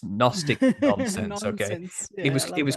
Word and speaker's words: Gnostic: It's kind of like all of that is literally nonsense with a G at the start, with a silent G. It's Gnostic nonsense.